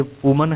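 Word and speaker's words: women: इसका पर्पज ये था कि ये वुमन है और ये, इसको हम वुमन नहीं कहेंगे, ये है विमेन।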